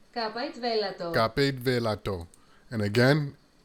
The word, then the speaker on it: capite velato: So let's play this again, the pronunciation. Capite velato.